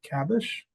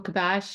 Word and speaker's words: Kabash: I see Kabish. Is that how you say it? It's Kabash.